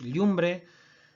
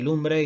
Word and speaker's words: llumbre: Y así tenemos lengua, ¿de acuerdo? Y tenemos llumbre, y tenemos el yobu, tenemos el yeite y tenemos el yagu, ¿de acuerdo? Este rasgo tampoco no se da en castellano, la L inicial no palataliza, consérvase tal cual y dicen lengua y lumbre y lobo y lago y leche.